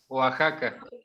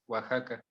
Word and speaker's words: Oaxaca: a lot of places there nice places so it's spelled uh h-u-a -co um o a x a CEO yeah Oaxaca the a a at the end with an X yeah oh wait Oaxaca okay yeah okay okay I love the mountains